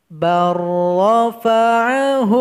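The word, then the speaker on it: بل رفعه: Jadi lam ini kita tinggalkan saja. Jadi cara membacanya, barrafa'ahu Allahu ilaih. Barra.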